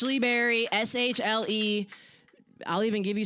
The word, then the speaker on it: Shle Berry: you can find all those on Spotify it's Lee Berry s-h-l-e I'll even give you some time to